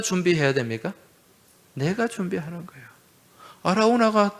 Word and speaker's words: 아라우나: 여러분, 이 사무엘서 말씀에는 아라우나 이렇게 나오죠. 또 역대기의 말씀에 보면은 오르난 이렇게 나옵니다. 그죠? 같은 사람이에요. 오르난의 타작마당, 아라우나 타작마당. 이 아라우나는 여부수식 발음이고, 이 여부수 사람이잖아요.